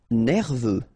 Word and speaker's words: nerveux: Nerveux. Final X not pronounced.